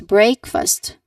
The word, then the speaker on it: breakfast: Breakfast like bre not break. Breakfast.